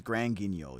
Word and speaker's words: Grand Guignol: It's Grand Guignol. You know that, right? Like look up the pronunciation of the actual theater its name is named off of.